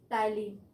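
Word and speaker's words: ptyalin: और टाइलिन में हमेशा क्या होता है, पी साइलेंट होता है, तो टाइलिन, ठीक है।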